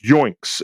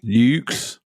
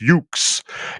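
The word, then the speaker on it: Yuke's: for the Dreamcast uh from uh joinks if I'm saying it correctly General must say that correctly yukes yukes okay so it's yukes and uh the physics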